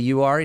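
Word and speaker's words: Uwharrie: UI National Forest. Is that how you say it? Yeah. Yeah. So, the URI National Forest um since they do have some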